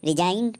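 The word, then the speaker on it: resign: जैसे रिजाइन, आर ई एस आई जी एन, तो इसको हम रिजाइन पढ़ेंगे क्योंकि रूल के अनुसार एन से पहले जी साइलेंट होता है।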